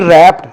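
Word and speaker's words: wrapped: शी रैप्ड में W silent है, दिखने में आएगा, रीडिंग में, प्रोनाउंसिएशन में नहीं आएगा।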